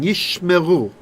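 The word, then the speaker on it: ישמרו: So the first shewa will be silent, and the next one will be like vocalized. Like, they are protecting. Yishmeru.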